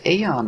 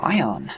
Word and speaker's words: Aion: boom so yeah that is aeon or ion depending on how you want to pronounce it um for you you